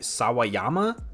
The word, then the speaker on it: Sawayama: Her name is Rina, I want to say this right, Sawayama, I believe is how you say it, and she was in John Wick 4, dude.